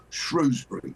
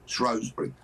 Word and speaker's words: Shrewsbury: Couple of weeks ago I was in beautiful Shrewsbury, Shrosbury, however you want to pronounce it.